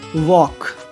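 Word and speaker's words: walk: एल, यदि किसी शब्द के अंत में एल के या एल एम साथ में आ जाए, एल के या एल एम, तो ऐसी कंडीशन में एल का उच्चारण नहीं होता, जैसे वॉक, चॉक, टॉक, palm, balm, काम, ऐसे वर्ड में एल का उच्चारण नहीं हो रहा है, ओके।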